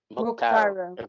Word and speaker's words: Muctaru: I pronounced your name correctly? It's Muctaru. Muctaru.